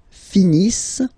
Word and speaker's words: finissent: Ils finissent. So remember, as usual, when we've got the verbs ENT not pronounced.